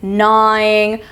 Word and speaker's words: gnawing: We have the initial GN, as in gnawing or gnarled or gnarly. The G is silent as well.